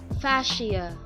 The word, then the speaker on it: fascia: a curry on exactly how to pronounce parsha so it is fasciae fasciae fasciae our next section will